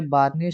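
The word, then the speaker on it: Bjarne: C plus plus was developed by बार्नी स्ट्रॉस्ट्रप, ये जे silent है यहाँ पर, तो बार्नी स्ट्रॉस्ट्रप एज an extension to द C language.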